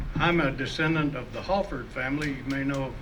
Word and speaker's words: Halford: Hello, I'm a descendant of the Halford family. You may know of Halford Road and Halford Park. Some people pronounce it Holford, but that's not the way we pronounced it.